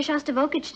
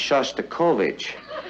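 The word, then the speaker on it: Shostakovich: taking me to hear shav vokic tonight honey I think that's pronounced sha kovich we'd like to meet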